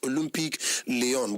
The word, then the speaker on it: Olympique Lyonnais: Olympique Lyonnais. I know be French person, but it's pronounced as Olympique Lyon, but the spelling are Olympique Lyonnais, with a seating capacity of 59,186 seaters.